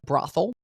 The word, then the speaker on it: brothel: When you first said it, I thought, is he saying it wrong? Brothel. No, that's right. I think because there's a city named Bothell.